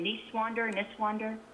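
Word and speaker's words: Niswander: of his last name niece wander and this wonder i think it's nice wander like uh like okay yeah nice nice guy okay nice guy yeah i i think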